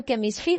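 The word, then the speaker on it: chemistry: ठीक है, ये जो केमिस्ट्री वर्ड है ना, ये ग्रीक ओरिजिन का है, केमिस्ट्री, केमिस्ट्री, ठीक है, इसलिए इनकी ये प्रोनाउंसिएशन जो है ये डिफरेंट है।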